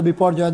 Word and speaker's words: Biparjoy: very severe cyclone स्ट्रम बाय बपो जॉय pronounce as अ बपो जॉय north east and एड